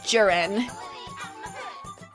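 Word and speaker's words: Ceren: your name the n spell c e r e n that's like J like Jester and ran like Ransom oh jiren thank you for giving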